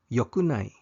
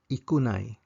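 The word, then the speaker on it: よくない: both these pronunciations however the negative conjugation of both e and yo is yokunai yokunai there's no such thing as IAI it doesn't exist you say yokunai there are three e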